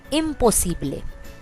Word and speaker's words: imposible: A very similar word, imposible. Imposible.